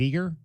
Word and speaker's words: Eager: tourism and film Authority am I pronouncing your last name correct is it eager it absolutely is outstanding we appreciate you